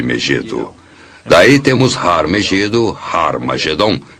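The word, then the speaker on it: Ἁρμαγεδών: E realmente em algumas das antigas versões do Novo Testamento, escritas em grego, Armagedon tem o som aspirado no início, que significa que era pronunciada com H. Originalmente era Har Magedon, e é muito fácil passar de Har Megido para Har Magedon.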